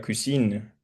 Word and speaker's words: cousine: Entonces, por ejemplo, en cuisson, en primo, como no, la palabra no termina con una E, uno casi que no pronuncia la N, uno dice cuisson, le cuisson, el primo. Pero con la prima, que es casi la misma palabra, pero esta vez termina en E, uno dice la cuisine. Entonces, si ven que ahí